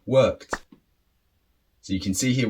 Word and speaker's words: worked: far so good now how do you pronounce these three different words is it way ted la ved were kid no of course not doesn't sound good so how do we pronounce these words so the first one is weighted the second one loved and the third one worked so you can see